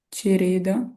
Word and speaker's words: Cereda: accento, cereda sì, perché la e potrebbe essere aperta o chiusa. Benissimo. Sarebbe aperta o chiusa secondo lei? Chiusa. Cereda chiusa. Cereda. Brava. Ma è la prima o la seconda?